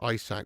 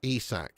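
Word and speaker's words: Isak: iPhone, iPad, ISAC. Why do you say it like that? It's ESAC.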